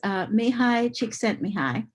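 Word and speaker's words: Csíkszentmihályi: I put the pronunciation key there for me. His name is Mihai Csikszentmihalyi, who first identified flow in 1975.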